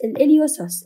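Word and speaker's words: psoas: العضله الصغيره شو بسميها الاليو سوس اوكي البي ما بتلفظ عندي فوق العضله الكوادريسبس الوسوس الوسوس هي العضله اللي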